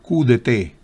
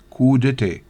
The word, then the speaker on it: coup d'état: Coup d'état. A propósito, no se pronuncia porque viene del francés. Coup d'état.